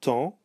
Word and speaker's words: temps: So the N nor the M are pronounced in the short nasals. They all make the en sound.